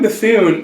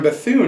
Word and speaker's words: Bethune: I'm not sure how to pronounce Norman his name. Bethune. Yeah. Well, Norman Bethune is another great story.